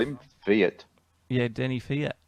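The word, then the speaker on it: Kvyat: called him Fiat yeah Denny Fiat isn't that how you say it I know a lot of people say kiveat but I was fairly sure it was Denny Fiat oh that's the first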